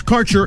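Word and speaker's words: Kaercher: today your connection to Quality cannabis Insurance Services is spelled k a e r c h e r that's CER insurance we have worked with Ventures like cannabis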